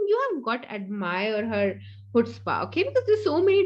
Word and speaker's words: chutzpah: Okay, now it's not Chutzpah and all that, it's actually Chutzpah.